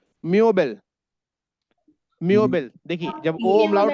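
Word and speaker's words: Möbel: मैंने आपको देखा दिया एग्जांपल टेक्स्ट बॉक्स में चैट बॉक्स में देखिए मोब ओम लाउड बी ई एल तो प्रोनसिएशन क्या होगा? मबल मबल मबल म ये ओ से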